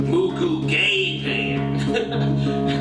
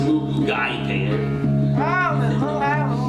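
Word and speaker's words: moo goo gai pan: like, I don't want to offend them by mispronouncing the names of the food. Mugu Gay Pan. I was like, we all started cracking up. He said, actually, it's pronounced Mugu Gai Pan.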